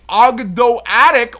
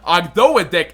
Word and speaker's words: Ogdoadic: The Ogdoadic, or Ogdoadic as I will call it, there's two proper ways to pronounce that.